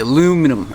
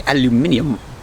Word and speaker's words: aluminium: I just said silver I meant aluminum or more specifically aluminium that's the fancy correct way to say it so first things first